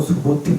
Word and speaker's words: 수부티: 하지만 중국어 발음 에서 도 ' 수부티 ' 라고 발음 하는 것 이 맞습니다 .